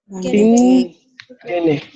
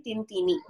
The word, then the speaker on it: ತಿಂತೇನೆ: 6 ಗಂಟೆಗೆ ತಿಂತೇನೆ. ತಿಂತೇನೆ. ತಿಂತೇನೆ. In the Bangalore Kannada, it would be tintini.